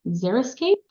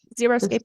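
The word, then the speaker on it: xeriscape: me pronounce this word I always pron it's zeroscape is that how you pronounce it zeroscape yeah yeah yeah but it's pretty much Desert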